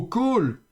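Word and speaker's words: כל: se disant, mais ici, le mot Kol, il est écrit avec un kametz. Pourquoi donc le prononce-t-il comme un cholem, comme un O?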